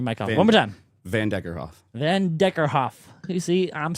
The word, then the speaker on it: Vanderkerkhove: How do you pronounce your last name? Van Deckerhoff. I turned your mic off one more time. Van Deckerhoff.